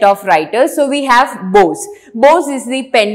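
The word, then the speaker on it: Boz: his younger brother the nickname was really Moses and since Moses is like a nasal pronunciation it normally turned to both and that is from where he to be named Bose so Bose is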